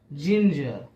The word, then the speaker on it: ginger: उसी तरह से जी के बाद अगर आई आए, जैसे GINGER, जिंजर।